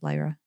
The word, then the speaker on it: Lyra: prism of lra or some people pronounce this Lyra um and and it